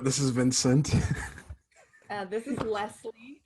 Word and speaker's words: Leslie: This is Leslie, which is pronounced less, like the word less, and then Lee.